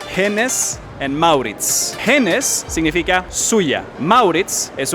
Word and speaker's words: Hennes & Mauritz: No es el nombre verdadero, porque en sueco, que es el nombre original, se dice Hennes and Mauritz.